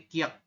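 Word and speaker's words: 키읔: berarti ciat seperti ini ini KH dan k berarti Kiek oke yang ini th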